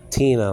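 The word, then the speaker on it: τινα: This is Tina, like Tina Turner, that singer that passed away a year ago, or whatever it was.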